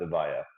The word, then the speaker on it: Evija: I think it's pronounced Evija. That's the 2,000 horsepower like hypercar EV that they're working on, whatever.